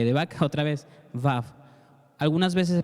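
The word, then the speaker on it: וָו: B de vaca, A, B de vaca, otra vez, Vav. Algunas veces se pronuncia Vak, algunas veces se pronuncia Vau, algunas veces se pronuncia Vau, dependiendo de la forma en la que está escrita, pero seguramente estás viendo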